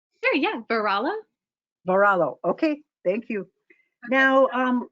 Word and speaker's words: Varallo: sure we're saying it correctly sure yeah varala varallo okay thank you now um well how